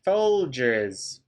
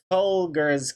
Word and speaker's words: Folgers: Oh, it's a soft G. Hey Siri, show me Folgers coffee.